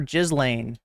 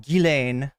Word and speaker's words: Ghislaine: spell her name right people always call her jizan and I'm pretty sure it's it's like French and it's pronounced gilain but yeah it's pretty